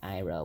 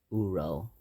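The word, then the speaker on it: Iroh: another problem is the mispronunciations of eng saga and ira which are ong and uro those are the worst mispronunciations ever that i've seen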